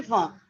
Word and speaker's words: Schwann: se chamam células de schwann células de schwann e a pronúncia a gente né a gente escuta várias formas mas se ela não existe van então olha lá nós